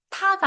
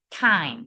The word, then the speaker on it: time: 그러니까 타가 아니라 time 이렇게 되죠.